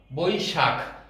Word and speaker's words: বৈশাখ: বয় ঐকার, তালব্য শয় আকার, খ, বৈশাখ। স্বভাবতই দ্রুত উচ্চারণ করতে গেলে আমাদের বৈশাখ ক চলে আসে, কিন্তু এখানে আসলে বৈশাখ বানানে খ, খ হলো মহাপ্রাণ, খটাকে ধাক্কা দিয়ে বলতে হবে বৈশাখ।